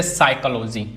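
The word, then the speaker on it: psychology: अब silent P क्या होती है? साइलेंट पी क्या है? जैसे साइकोलॉजी। अब इसमें पी गायब है।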